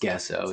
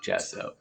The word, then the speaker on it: gesso: It's not pronounced gesso, it's gesso. So I'm told.